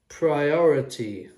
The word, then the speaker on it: priority: Priority. And interesting, the word is really short, but it has 4 syllables. Priority. The I here, the second I is the schwa, the priority.